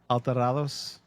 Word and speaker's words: Alterados: How you pronounce that again? Alterados.